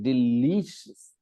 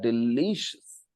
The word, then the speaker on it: delicious: delicious okay um and the stress is on the second syllable delicious okay l i l i lee we stress that delicious okay and that is